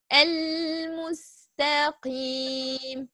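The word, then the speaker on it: المستقيم: But the other type, like al-mustaqim, we have to pronounce the lam.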